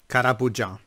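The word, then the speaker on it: Karaboudjan: Karabajan. Karabujan. That's how you pronounce it. Jean. It's an Armenian name.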